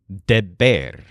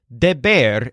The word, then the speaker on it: deber: by a bear named Deber. As a quick note, you may have noticed that all of our verbs that have the stressed syllable ber in the infinitive are all different people.